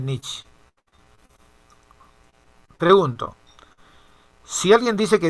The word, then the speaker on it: Nietzsche: Se escribe Nietzsche y se lee Nietzsche.